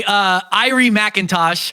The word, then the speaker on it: Irie McIntosh: The photo is by Irie McIntosh, spelled exactly how it sounds.